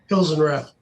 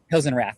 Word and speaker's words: Hilsenrath: What's the appropriate pronunciation of your last name? Hilsenrath. Hilsenrath.